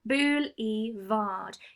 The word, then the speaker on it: boulevard: It's got 3 syllables, boulevard.